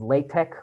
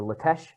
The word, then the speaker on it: LaTeX: actually an integrated software called latex or litech different people pronounce it differently um but the default